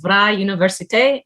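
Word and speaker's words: Vrije Universiteit: quick note for the pronunciation of the university it's vra universite and it just means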